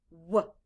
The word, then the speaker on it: what: w h a t the letters w h stand for the sound and in this word the letter a stands for the short u sound ah blend with me what now skye write the